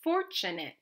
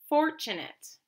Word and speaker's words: fortunate: our next word is fortunate fortunate that's right fortunate is another schwa because the a te is saying it skate skate great